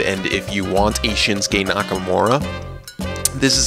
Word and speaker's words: Shinsuke Nakamura: Number 10 is Shinsuke Nakamura, as he's pronounced correctly.